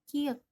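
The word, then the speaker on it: 키읔: Huruf ini namanya huruf kiek. Di alfabet pengucapannya seperti KH, ke.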